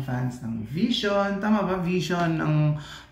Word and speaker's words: VXON: Ang vision pronounced as vision is five member Filipino boy group under cornerstone entertainment.